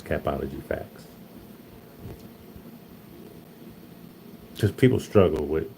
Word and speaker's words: Capology Factz: If you want to know how to pronounce it, it's capology facts cuz people struggle with saying my name.